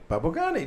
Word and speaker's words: Babukani: Babukani, just like that. Babukani, what Okay, that- well, you got a very little. easy. You kind of raise it up at the end.